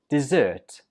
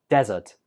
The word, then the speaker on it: dessert: This one is pronounced dessert. Dessert. Where did you hear the stress? Right, on the 2nd syllable. Dessert. Dessert. If you put the stress on the 1st syllable, it sounds more like desert, which is not correct.